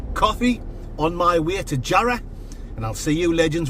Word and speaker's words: Jarrow: Jarrow, it's spelt, but everyone up here in the northeast of England calls it Jarrow.